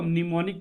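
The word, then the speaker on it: mnemonic: man medium और निकट इसमें हम साइलेंट होता है ठीक है इसको निमोनिक लैंग्वेज बोलते समय निमोनिक कोर्स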